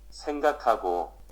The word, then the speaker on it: 생각하고: 생각하고. 생각하고. Strange that it does pronounce the h.